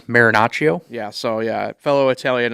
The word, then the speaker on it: Marinaccio: In response to Chad Green, Ron Maracchio, I definitely probably just butchered his name to no end. It's Marinaccio.